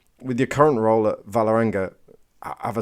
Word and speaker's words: Vålerenga: Is the with the circle on the top is an O, so it's Vålerenga.